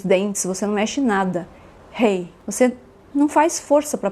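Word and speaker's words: ה: você não mexe nada Hei você não faz força para pronunciar praticamente né sua pronúncia ela é parecida com o h de house em inglês e isso remete que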